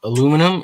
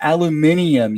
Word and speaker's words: aluminium: Aluminum is aluminum and mix of a tin. It's aluminium, you uncultured freak.